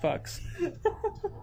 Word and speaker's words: Fuchs: It's like actually it's pronounced Fucks.